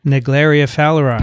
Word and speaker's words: Naegleria fowleri: research on, Vincent, do you know how to pronounce this? Naegleria fowleri.